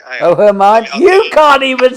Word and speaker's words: Hermione: It's Hermione. Oh, Hermione.